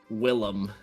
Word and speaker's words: Willem: Willem. Willem. All right. Like the Defoe.